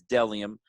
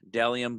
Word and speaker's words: Bdelliom: Again, that's Delium, spelled BDELLIOM. Delium, but the B is silent.